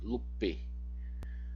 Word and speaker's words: lupe: no vocativo de lupus, lupe. Olha, em português brasileiro, nós pronunciamos esse E como I. Só que se eu faço isso, eu posso estar me referindo em latim ao genitivo lupi, ao genitivo singular, ou